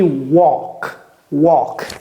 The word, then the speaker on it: walk: la prononciation de ça j'ai dit walk walk la prononciation de ça c'est quoi work work c'est comme si ça c'était W e r k work et ça c'est W